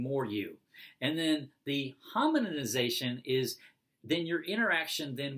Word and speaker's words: hominization: but he calls it hominization. So it's like hominin, like the species, hominization.